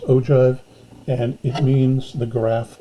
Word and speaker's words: ogive: this an ogive this one right here it's pronounced ogive and it means the graph of a cumulative